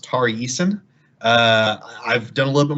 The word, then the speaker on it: Tari Eason: I believe his name is pronounced Tari Eason.